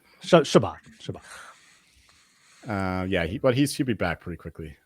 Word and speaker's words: Chabot: How did you pronounce his name? Chabot. Did I put the emphasis wrong? It wasn't that bad. It wasn't Chabot. Bad. No. Chabot. Chabot.